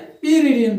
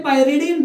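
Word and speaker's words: pyridine: पीरिडीन बोलते हैं। कोई पायरिडीन बोलता है, जिसको जो मर्जी है प्रोनाउंसिएट करे।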